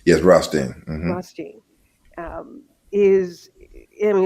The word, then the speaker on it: Rothstein: Is that how his name is pronounced? Yes, Rothstein.